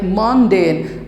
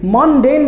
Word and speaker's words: mundane: If you press it for several times, you'll get the sound like mundane. Mundane beli kahin ki padibi? Mark it. It is written like MUHNDAYN, and exactly there are two syllables.